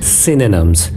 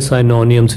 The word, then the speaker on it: synonym: आज असी करांगे बड़ा इंटरेस्टिंग टॉपिक ते बड़ा सिंपल टॉपिक सिनोनिम्स, जिन्हों अपने इंडिया च कई जगह ते साइनोनिम्स भी कहा जाता है, पर इहदी एक्चुअल जिहड़ी प्रोनाउंसिएशन है वह सिनोनिम है।